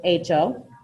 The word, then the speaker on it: hecho: The H is kind of silent in Spanish, so just hecho.